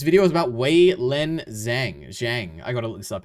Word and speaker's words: Zhang: How to pronounce Zhang.